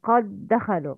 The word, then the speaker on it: قد دخلوا: قد دخلوا دال must be merged. It's قد دخلوا.